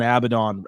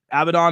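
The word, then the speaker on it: Abadon: shot for a title my my my bad on the Mis mispronunciation there uh but abidon has been pretty much called out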